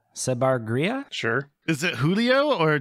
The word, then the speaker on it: Giulio: would be giulio sabar gria sure is it julio or julio uh it's pronounced julio okay yeah giulio me and julio down by